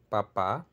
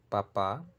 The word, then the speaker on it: papá: Lo único que diferencia es la tonicidad, el acento tónico, papa y papa.